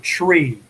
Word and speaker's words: tree: can make a difference niner you know it's nine uh tree for three five for five this